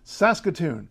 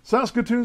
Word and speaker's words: Saskatoon: the number two city of Saskatchewan which is Saskatoon Saskatoon Saskatchewan sounds great doesn't it they have the